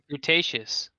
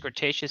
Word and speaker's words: gratuitous: Just pronouncing it wrong. A lot of viewers complain that there's too much gratuitous sex and violence in the film. Gratuitous. Gratuitous. Oh, Gratuitous. grutacious, Gratuitous? not grutacious. Gratuitous, yeah. Gratuitous. Okay, I said it wrong, but that's the right word.